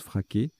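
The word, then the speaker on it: freak: Bien qu'on le prononce fraquet. Voilà, c'est l'anagramme de fric, F-R-E-A-K. Mais il n'y a pas de E. E ou de EES, etc.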